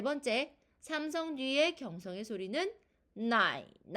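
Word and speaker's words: 奶奶: 자, 발음은 나이를 가지고 발음해 보도록 하겠습니다.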